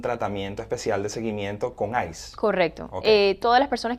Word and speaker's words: ICE: Es que me soltaron pero el ICE, se pronuncia así, ¿verdad?